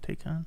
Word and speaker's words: Taycan: I did a correction in CSL XO combo on my Taycan. Is that how you say it? Taycan?